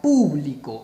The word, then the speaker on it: público: Para que sea una palabra esdrújula, que es donde a lo que nos estamos haciendo referencia, para que diga público, o sea, mayor fuerza de voz en pu, debemos colocarle acento.